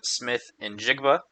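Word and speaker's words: Smith-Njigba: Uh, that one is going to the Seattle Seahawks wide receiver Jackson Smith and Jigba. Um, that is how you say his name.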